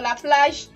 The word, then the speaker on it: la plage: Okay, so for la plage, we are not pronouncing the O à la fin, we are stopping at the J.